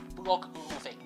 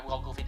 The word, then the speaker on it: Bloglovin: which one, but it's Blog Loving. It's spelled BLOGLOVIN. Yep, it's sort of the slang of loving, but moving on.